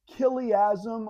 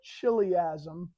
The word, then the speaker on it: Chiliasm: Now, it was often called Chiliasm or Chiliasm, is how it's often pronounced, depending on who's talking about it.